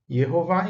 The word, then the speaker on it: Jeová: Jeová em hebraico, Jeová é a pronúncia em português.